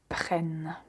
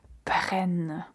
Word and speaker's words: prennent: Et pour la troisième personne du pluriel, faites attention à la double N parce qu'il faut aussi bien la prononcer. Ils, elles prennent.